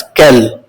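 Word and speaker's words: quel: French language में चारों ही interrogative adjectives का pronunciation is वन एंड the same as कैल।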